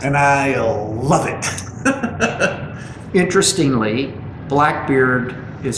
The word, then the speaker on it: Blackbeerd: Interestingly, Blackbeerd is spelled B-L-A-C-K-B-E-E-R-D. Correct. Just the way it's pronounced. Just the way it's pronounced. Beard. Blackbeerd. Beard.